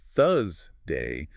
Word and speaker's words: Thursday: but misinformed peers that they're saying Thursday incorrectly if they don't pronounce the R. Oh, I've seen that happen. They get told, you forgot the R. Right. But if your shadowing target is British, pronouncing Thursday with a flat tongue is entirely phonetically accurate.